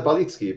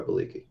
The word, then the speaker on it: Balicki: guest for AMA Robert balicki did I pronounce that correctly it's a balitski but it's kind of hard to go from English diction to polish diction so I go by baliki okay okay I didn't